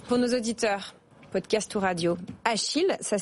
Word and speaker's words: Acheel: bonjour bonjour Marie pour nos auditeurs podcast radio achile ça s'écrit a C H e e l faut